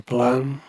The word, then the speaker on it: Blame: My favourite manga artist who made the manga Blam, which is spelled blame, but it's not the English word blame.